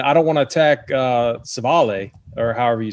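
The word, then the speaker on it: Civale: Okay, yeah, Is it Savale?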